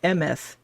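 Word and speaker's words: אמת: It's pronounced Emeth.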